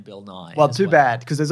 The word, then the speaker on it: Bill Nighy: Apparently Bill Nighy pronounces his name Bill Nye.